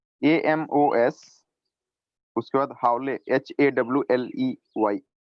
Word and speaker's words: Hawley: AMOS, उसके बाद हावले HAWLEY। हावली और हावले जो भी पढ़ते हो हावली ही होगा।